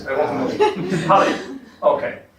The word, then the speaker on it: Halley: Oh, come on, how do you pronounce it? I want to know. Halley. Okay, Halley.